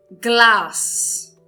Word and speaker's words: Glas: Então, o exemplo seria glass. Glass. Então, verifiquem que eu estou pronunciando de uma forma longa o A.